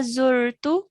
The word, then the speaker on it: زرت: Hatta zurtu. حتى زرت Zurtu. زرت. Yeah, it has a dhamma on the za. So we're going to pronounce that correctly, okay?